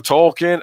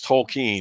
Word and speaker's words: Tolkien: Tolkien." Actually, it's Tolkien, and I'm like, oh, Yeah.